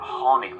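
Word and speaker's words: tháinig: Or honig me, I came. Marhapla. Honig to ivad. Did you come far? Honig to ivad. So you can hear the H sound on the honig part of that sentence.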